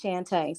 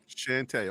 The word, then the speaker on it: Shante: yes ma'am perfect and the correct way to pronounce my name is Shante so you're very close Shante okay yeah the o